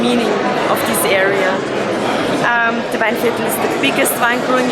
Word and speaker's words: Weinviertel: I'll let you pronounce it because I bugger it up every time. It's Weinviertel? Weinviertel.